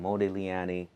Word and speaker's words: Modigliani: Today I'm sitting with a very special guest, Rudy from Modigliani here in Kingston. Did I pronounce that right?